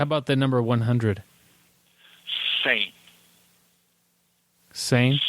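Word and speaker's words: cem: Sane.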